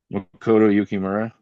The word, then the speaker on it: Makoto Yukimura: Makoto Yukimura.